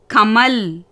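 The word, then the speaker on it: कमल: 3வது வார்த்தை பார்த்தீங்கன்னா கமல். க ம ல. ஃபஸ்ட்டு எழுத்து க, 2வது எழுத்து மா, 3வது எழுத்து லா. லா என்னது? வியஞ்சன். ஸோ எப்படி ப்ரனௌன்ஸ் பண்ணணும்? இல் மாதிரி ப்ரனௌன்ஸ் பண்ணணும். க ம ல கமல்.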